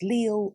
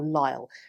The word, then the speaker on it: Lisle: She was heiress to the barons Leal or Lisle, depending on your preferred pronunciation of that.